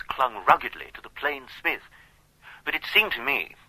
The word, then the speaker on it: Psmith: variety might be introduced the P I should add for your guidance is silent as entices psychic and Tagan